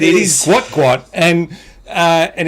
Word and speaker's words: Gout Gout: guo T is how it was supposed to be spelled and instead it's just been spelled g UT and so of course that's his name everyone's run with it everyone's just calling him gout gout and he's the biggest thing in hot bread but uh yeah unfortunately it's guat guat uh and so Australian